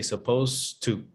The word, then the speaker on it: supposed: it has a d you don't pronounce the d you don't pronounce it you say suppose to but it is there